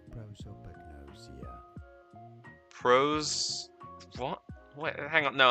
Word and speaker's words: prosopagnosia: In British English, it is normally pronounced as prosopagnosia.